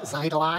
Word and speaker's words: Xitilon: Actually, it's pronounced Xitilon.